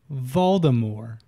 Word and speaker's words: Voldemort: years Tuesday's nothing that Baltimore stuff is actually pronounced Voldemort so it's SIA silent T and maybe she